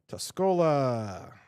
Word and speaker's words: Tuscola: Tuscola.